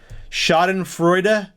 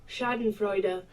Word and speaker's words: Schadenfreude: butcher at the top of the hour here shoden Freud shoden fre how do I pronounce this again tell me Google Shaden Freud shoden Freud I'm part German I should know